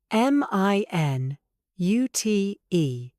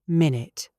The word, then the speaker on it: minute: Stress on the second syllable.